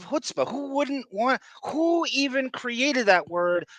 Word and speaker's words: chutzpah: And so obviously your country is going to phonetically want to pronounce something with the CH, chutzpah, instead of chutzpah.